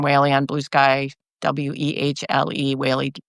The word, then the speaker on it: Wehle: Wehle rhymes with daily.